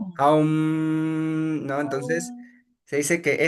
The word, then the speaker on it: Aum: el au estas tres sílabas aum, ¿no?